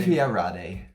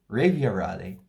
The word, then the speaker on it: Refiarade: after the beautiful pronunciation of the name. Refiarade. Oh, sure, right. I can do it again. Refiarade.